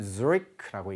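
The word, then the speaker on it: Zürich: Zurich라고 하는 이 도시는요, 영어로는 Zurich라고 읽지만 실제로 그 스위스에서는 쥐리히라고 읽는 것 같아요.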